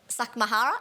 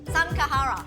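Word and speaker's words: Samke Harra: How do we pronounce it? Sakmahara? No, not Sakmahara, what the hell? Samkahara. It's the, I can't do that. Samkahara. Hara. I can't do it.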